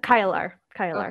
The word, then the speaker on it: Kailar: Is that how you would pronounce it? Kailar.